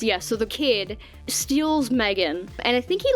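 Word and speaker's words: M3GAN: kid-sized robot companion thing her name is Megan but it's spelled methan and I can't not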